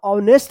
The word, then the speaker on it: honesty: यहाँ पे भी एच का उच्चारण नहीं हो रहा है, ऑनेस्टी।